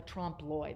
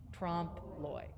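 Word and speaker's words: trompe l'oeil: to deceive the i and that's how you say it say it with me trump loy trump lloyd a lot of people will put the l on the l on the end there don't put the l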